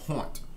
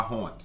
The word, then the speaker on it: honte: We're going to see the word haunt. Haunt. Haunt is a word we use to mean shame or embarrassment. And we do pronounce the H pretty much, everywhere.